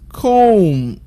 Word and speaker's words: comb: Letter B is silent when you have letters M and B in the same syllable.